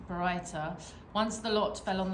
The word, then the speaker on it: Baraita: A sage taught the following, how do you pronounce that? Baraita. Baraita.